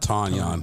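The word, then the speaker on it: Tonyan: Last year, Pittsburgh brought in veteran Robert Tanyen. Is that how you pronounce his name? Robert Tanyan.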